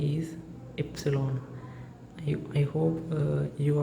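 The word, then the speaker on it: Ypsilon: Epsilon yps i l Epsilon Epsilon Epsilon so in Germany the letter Y becomes Epsilon not y it's Epsilon Epsilon and the letter Z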